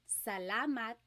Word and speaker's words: salamat: So the letter A, ah, ah, ah. Not ah and not ah, just ah, ah. So let's practice saying salamat, salamat, salamat. It's not salamat and it's not salamat.